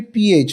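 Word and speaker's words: फ: But ठीक है और इसमें the pronunciation has to be PH, not F. But Ha, not fan. Because the fa pronunciation is not there in Sanskrit.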